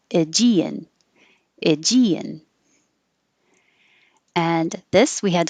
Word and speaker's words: Aegean: So I know this isn't the original pronunciation, but Americans are more likely to say Aegean, Aegean.